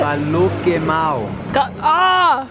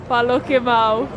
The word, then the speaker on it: Paloquemao: Paloquemao. Paloquemao.